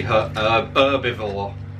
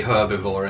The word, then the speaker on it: herbivore: it's an herbivore because americans don't pronounce the h they say herbivore but we would say herbivore in the uk so it would be